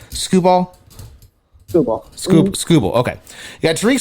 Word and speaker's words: Skubal: Skubal.